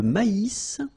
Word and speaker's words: maïs: L'avoine, le blé, here, accent aigu, et le maïs. So here you get this tréma, so maïs, maïs. And then you pronounce the final S, maïs.